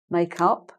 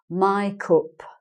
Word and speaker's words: makeup: which we call makeup makeup it's all one word and you make up your face you're using makeup they pronounce it my cup my cup okay so it's like my my cup I'm going to die some my cup instead of I'm going to buy some makeup okay so that's just